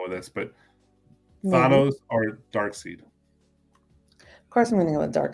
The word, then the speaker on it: Darkseid: Darkseid. Okay. Yeah, I used to pronounce it Darkseid too, but I realized it's Darkseid, and that's correct, Darkseid.